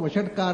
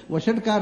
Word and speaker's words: ವೌಷಟ್: ವಷಟ್ಕಾರ ಅಂದ್ರೆ ವಷಟ್ ಅಲ್ಲ, ಅದು ಹೇಳಿದ ಹಾಗೆ ಗೊತ್ತು. ಅದನ್ನ ಅದನ್ನ ಯಜ್ಞದಲ್ಲಿ ಆಹುತಿ ಕೊಡುವಾಗ ಋತ್ವಿಜ ಹೇಳ್ತಾರೆ ವೌಷಟ್ ಅಂತ, ಅದರ ಉಚ್ಚಾರ ಹಾಗೆ. ಅದನ್ನು ವೌ ಅನ್ನೋದನ್ನ ದೀರ್ಘವಾಗಿ ಹೇಳುದು, ಅದನ್ನು ಫಲತದಲ್ಲಿ ಹೇಳಬೇಕು ವೌಷಟ್ ಅಂತ ಹೇಳಿ ಆಹುತಿ ಕೊಡ್ತಾರೆ.